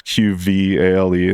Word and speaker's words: Qvale: It's just at my name, just Brent Qvale, and it's Qvale, and that usually messes everybody up. Because it's almost sounds like a U. Mm-hmm. Yeah, it's spelled with a V, sounds like a U.